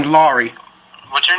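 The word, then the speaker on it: Larry: yeah it's a slow it's like a slow R you know what I'm saying like you let the r roll L okay all right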